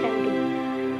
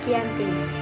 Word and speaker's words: Giyanti: Februari 1155 nama Dianti diambil dari lokasi penandatangan perjanjian yaitu di desa Janti dalam pelafalan Belanda disebut sebagai anti dan secara tertulis Giyanti tempat tersebut sekarang dikenal